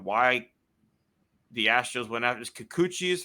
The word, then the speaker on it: Kikuchi: the specifics on why the Astros went after Kikuchi is how you say it, I believe. I think so, yeah. Why they went after Kikuchi.